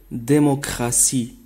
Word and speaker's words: démocratie: par la lettre D la terminaison tie et prononcé si dans certains mots comme démocratie démocratie diplomatie diplôme assis la